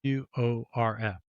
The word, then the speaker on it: Whorf: wants to look it up, how do you spell that? Sapir is Saip, and then Whorf is Worf.